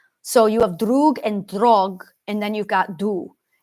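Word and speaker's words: draugr: other like Duo and drog so we see Duo that's your evil and then drog d r a u g r R the r is silent D and I really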